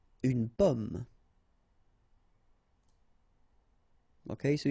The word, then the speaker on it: pomme: Okay, so you can see that I pronounce them a little bit, a little bit differently, but then we'll be careful that in many cases people will pronounce them the same way, okay, because in that case normally it should be a bit lower, pomme, and then here more open, so pomme, okay.